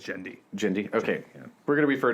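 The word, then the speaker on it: Genndy: gonna start referring to him as jindy which i think is how his first name is pronounced i'm not gonna lie i watched several interviews with him today just to travel like just say your name again say your name how do you pronounce that and i was like all right but it is i i'm pretty sure it's gen d jindy okay yeah we're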